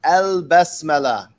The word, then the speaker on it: basmala: So al-basmala, you pronounce it al-basmala.